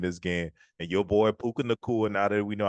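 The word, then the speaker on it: Puka Nacua: And your boy Puka Nakua, now that we know how to say his name, Puka Nuka. Nuka Nuka, Puka Nuka, Puka Nakua.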